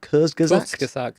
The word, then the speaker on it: Kurzgesagt: It's made by a channel called Kurzgesagt. I can't pronounce that. Kurzgesagt.